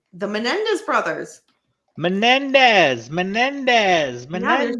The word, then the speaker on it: Menendez: Menendez. Yeah, there's no L in that.